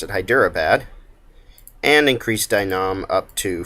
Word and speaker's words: Hyderabad: the opinion of hyper hyderabad that's how you pronounce it hyderabad and increase dynam up to friendly um our